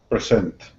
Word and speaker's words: present: Is present or present? This one is present, with the emphasis on the second syllable.